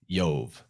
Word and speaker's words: Jove: Well, in the Romanized pronunciation of languages, the J or the I makes the same sound. It's like a Y. It's like ya. So Jove is like Yov, right?